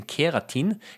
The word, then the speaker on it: keratin: Um I have got my own fingernails because fingernails are made of the protein keratin. Keratin not not like the ones in not keratene like in carrots but it's spelled differently.